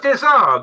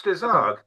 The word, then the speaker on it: Desargues: No, it's Desargues. It's Desargues.